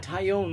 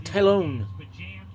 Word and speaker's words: Taillon: with jameson taion returning talon that is not tyoung that is a spanish pronunciation the name is german is tylon with a lot of